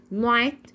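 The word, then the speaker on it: night: ثلاث حالات من النط اول حاله لو جت معايا في نص الكلام بتكون سايرن ليدر ما بنطقها زي كلمه رايت نايت ات بات اللي هي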